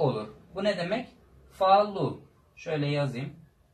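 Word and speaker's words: falo: Falu. Şöyle yazayım. Falu. Falar fiilinden geliyor konuşmak. Falu. Sonda olunca u.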